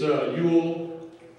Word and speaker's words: Ewell: It's Ewell. It's spelled E-W-E-L-L.